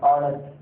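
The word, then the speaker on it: honest: எஸ் இருக்குன்னா முதல் சொன்னபடியே அந்த வெளிப்படையே இல்லை, ஆனா உச்சரிப்பு இருக்கு. பாருங்க, அவன தமிழ் இருக்குமா? இல்ல நம்ம அந்த குருட்டு பாடத்துக்கு வந்துடலாம். குருட்டு பாடத்துக்கு வரலாம். கவனிங்க, இப்போ ஆனஸ்ட் தமிழோட ஒரு படம் வந்தது.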